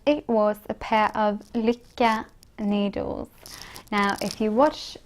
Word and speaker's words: Lykke: And by the way, if you're wondering how to pronounce it, it's Lykke. Lykke. It's the Norwegian word for happiness, and people are really struggling to pronounce this correctly.